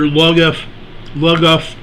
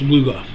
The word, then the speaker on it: Lugoff: Now, for those of you that live in South Carolina, you saw that earthquake over near Lugoff, South Carolina.